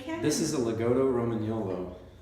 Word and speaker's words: Romagnolo: This is a Legato Romagnolo. You gotta roll your R's.